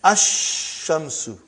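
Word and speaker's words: الشمس: And then Ash-Shamsu.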